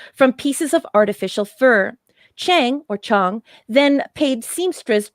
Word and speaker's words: Chang: is an a but some people pronounce it chong accepted the challenge of designing the triples from pieces of artificial fur chang or chong then paid